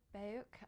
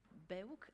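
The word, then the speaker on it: BEUC: Patricia Gautier represent baiyoke I say Baroque but actually our policy is that we can pronounce it in different ways depending on our language so that colleagues that say beep-boop Berg as well in French so feel free to pronounce however you want just maybe for those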